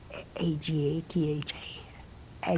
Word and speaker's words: Agatha: Let me see how you pronounce this now. A G- A T H A Agatha.